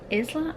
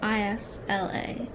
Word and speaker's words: Isla: the lead girl's name is it Isla i s l a Isla is how I'm going to say please let me know